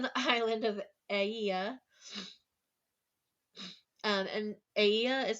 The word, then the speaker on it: Aeaea: And Aea is spelled Aeaea.